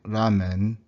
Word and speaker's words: ramen: So ramen actually has 4 syllables. The ra, long a, ra, me, n.